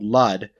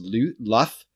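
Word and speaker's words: Lludd: And the Behir that's in this is actually called Lud, or I actually think it's pronounced Luth or Luth, which is when two D's come next to each other in Welsh. It's a TH sound.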